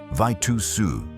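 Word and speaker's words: Vejtasa: The name Vetasa, pronounced Vitusu, meant nothing to the recruiters in the United States Navy.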